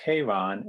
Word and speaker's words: Charon: talk to Yannick for a moment, and the pronunciation in English is Charon, and there's a different pronunciation in French.